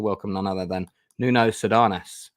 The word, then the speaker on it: Sardanas: So all the way from his abode in Switzerland, I'd like to welcome none other than Nuno Sardanas. I did pronounce that correctly, I hope. More like Sardanas.